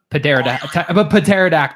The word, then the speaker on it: pterodactyl: The first letter is silent in this flying dinosaur's. Pterodactyl.